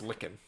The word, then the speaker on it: lichen: A lichen rock, perhaps? No, I think it's pronounced lickin'.